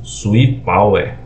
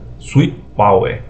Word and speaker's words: Swipower: Power tem Fala aí é o inglês é diferente aí cada pronúncia mas veja tem gente que conhece como suipa Power outros Power aí a pronúncia vai com vocês para mim aqui é o Sweet Power swi Power inversor onda pura senoidal